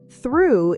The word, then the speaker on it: through: Through is pronounced like through.